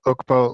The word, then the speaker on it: Ukpo: Ukpo, like ook, like cooking ook, and Poe, like Edgar Allan Poe.